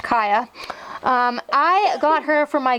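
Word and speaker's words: Kaya: living room was super fun yeah yeah properly pronounced kiyah I got her for my good report card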